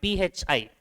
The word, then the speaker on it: phi: And that symbol means, this is pronounced as 5, phi, 5, 2.